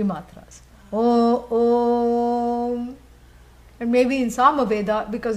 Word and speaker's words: Om: And you know, this is something which is it is sacrilege to elongate Om or pronounce it any other way. You cannot pronounce it sideways by saying Aum. That's not the way your jaw is supposed to move.